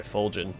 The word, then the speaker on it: Fulgen: now thanks to you sorry fulgin not fulgan i've been saying it wrong this whole time all right to the